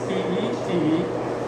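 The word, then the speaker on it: tête: T-E-T-E, and they pronounce it as Tet, meaning head.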